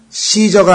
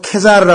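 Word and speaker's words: Caesar: 또는 시저가 아니고 케자르라 그러죠. 케자르. 그렇죠? 케사르. 카이사. K로 발음되죠? 그러나 그 영어로 되면 시저가 되고 사이프러스가 돼요.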